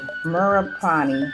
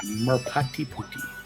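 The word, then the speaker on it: Merpati Putih: In December of 1998, Nate discovered Merapani. Am I saying that right? I think. Yeah, Merpati Puti. Merpati Puti. Ah, thank you. I was saying it wrong then, but that's fine.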